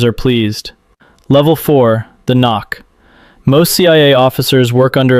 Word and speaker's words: NOC: non-official cover, knock, pronounced knock.